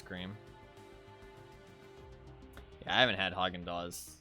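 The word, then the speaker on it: Häagen-Dazs: right I think there there's an S at the end um but I mean I guess it's silent I don't [ __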